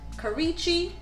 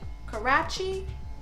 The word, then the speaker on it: Karachi: thought this would be cool atta is from karichi karachi sorry pronunciations so i thought it'd be cool to